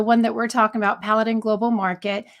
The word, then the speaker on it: Paladin Global Market: Paladin Global Market.